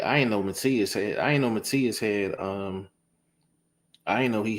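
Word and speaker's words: Matías: One of the guys said, you pronouncing it Subriel Matisse. It's Matias.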